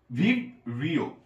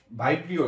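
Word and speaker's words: Vibrio: ওকে, এরপরে কলেরার জীবাণু, এইটা হচ্ছে ভিব্রিও, ভাইব্রিও না ভিব্রিও, ভিব্রিও রফলা দিচ্ছি না,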